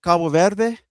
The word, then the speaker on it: Cabo Verde: It uh flew out of Esparos, which is down here by Cabo Verde or let me say it right, Cabo Verde, which was in the World Cup.